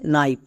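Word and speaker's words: knife: Next এই ওয়ার্ডের উচ্চারণটা হচ্ছে নাইফ।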